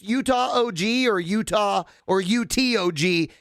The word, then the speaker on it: UTOG: is it pronounced utah og or utah or utog it's a brewery up there in ogden yeah so it's it's it's pronounced utah basically it's utah ogden brewery okay um up